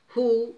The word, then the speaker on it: who: Who? W, silent letter.